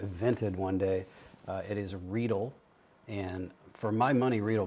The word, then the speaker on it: Riedel: What's the correct pronunciation? Riedel.